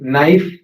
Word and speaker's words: knife: Knife These are German words. So we don't have we don't pronounce k.